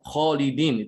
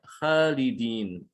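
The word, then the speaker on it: خالدين: Ya, contohnya harusnya ini lafaz kholidin itu dibaca tebal kho-nya ya. Kholidin dia bacanya khalidin. Ini banyak ya kita jumpai dalam percakapan sehari-hari. Ada orang punya nama Khalid, dia baca Khalid ya. Dia manggilnya Khalid. Itu keliru sebetulnya ya.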